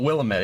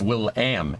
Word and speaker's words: Willamette: Yeah, it's not Willamette, it's Will-am. You have to say am. You have to say the am part.